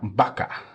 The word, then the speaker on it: Baca: how do you say her last name francisa Baka francisa that's her middle name Judith francisa francisa